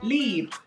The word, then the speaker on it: Libre: Libre. So you pronounce the R-E like the French would.